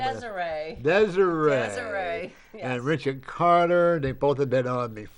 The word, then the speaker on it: Deziree: We have Kimberly, I don't know how to pronounce her last name. Deziree.